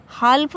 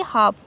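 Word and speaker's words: half: है तो एल जो होगा क्या होगा, हमारा साइलेंट होगा, इसे हाफ पढ़ा जाएगा। हाल्फ नहीं पढ़ेंगे बल्कि क्या पढ़ेंगे, हाफ।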